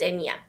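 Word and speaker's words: Eithne: spelt different hers is um e-i-t-h-n-e but it's pronounced enya okay now i love that name because when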